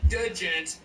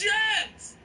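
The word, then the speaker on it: djent: the D is silent the D is silent it's Jens not did gent now gent wasn't originally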